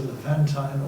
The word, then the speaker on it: Levantine: He was a Levantine, or I'm being constantly reminded that it's pronounced another way, but I call it Levantin, and a child of the Ottoman Empire.